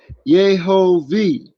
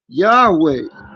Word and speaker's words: Yehovah: So it says it's pronounced Yehovah in right. Yahweh. Okay. Yehovah.